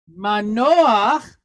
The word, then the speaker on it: Manoach: It's got a patach. So it's a chet. It's at the end of a word, and it has patach. So how do we pronounce that? Ah. So that gives us Manoach, who is whose daddy?